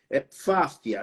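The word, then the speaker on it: Pfaffia: Fáfia, né? Fáfia, né? São um P mudo, né? No latim, a gente não pronuncia o P mudo, né? Então, a gente pronuncia fáfia, né?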